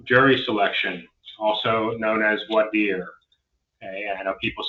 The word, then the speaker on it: voir dire: All right, so next we're getting to jury selection, also known as voir dire.